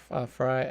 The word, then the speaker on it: Fry: So Robin, her last name is Fry, F-R-E-Y, pronounced Fry, spelled Frey.